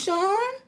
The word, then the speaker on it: Shan: Oh, it's pronounced Sean? S-H-A-N?